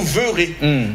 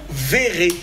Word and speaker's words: verrez: voir en conjugaison justement il y a ceux qui disent vous vous verureurez mais on doit va dire justement vous verrez parce qu'il y a en double consand sonne il y